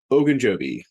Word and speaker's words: Ogunjobi: Tight end CJ Uzoma and defensive tackle Larry Ogunjobi.